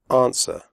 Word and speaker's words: answer: The W sound is silent. Answer.